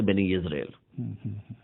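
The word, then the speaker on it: בני ישראל: سے تعلق رکھتے ہیں، جس کا تلفظ ہم اردو، عربی اور فارسی میں بنی اسرائیل کرتے ہیں. عبرانی زبان جو کہ یہودیوں کی زبان ہے اس میں تلفظ ہے بنی اسرائیل.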